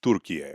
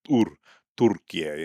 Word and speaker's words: Türkiye: But the problem is that yeah, the proper pronunciation is something close to what I'm doing, which is Türkiye, right? You have to hit that Tur Türkiye. And you know, maybe even roll the R a little bit or something.